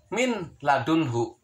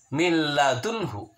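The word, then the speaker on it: مِن لَّدُنْهُ: Tulisannya min ladunhu, tapi tidak boleh dibacanya min ladunhu. Seakan-akan di dalam lamnya itu ada tasydid. Dibacanya adalah min ladunhu.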